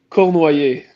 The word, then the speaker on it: Cournoyer: correctly dude yeah uh so in french it's say ko noi so if you want if you wanted like a little trick for it uh in english you can say like the word like core core followed by no